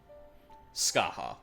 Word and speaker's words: Scathach: I think it's Scartha? If I remember correctly. Irish. Skaha, that's it. I remember it was something weird. Sorry, one sec. Yeah. Skaha, the Shadow Queen.